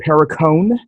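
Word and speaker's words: Perricone: But this is 100% Pericone, I believe is the way that's pronounced.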